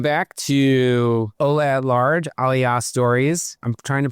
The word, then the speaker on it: Aliyah: out to me that I continuously say Aliyah as opposed to Aliyah. I keep saying it wrong, so I'm going